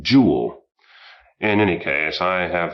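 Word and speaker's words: Joule: by the the way probably pronounced his name jewel in any case I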